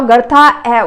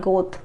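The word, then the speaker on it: Goethe: So this is pronounced gerta not go.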